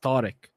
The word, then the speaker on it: Tariq: T because I'm sure you get called Tariq lot but your name is pronounced toic toic and I just